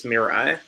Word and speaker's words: Mirai: breaks the Emma Internet and how did you pronounce it Ryan me Ari its Mirai Mirai your eye Manning's train of pronouncing things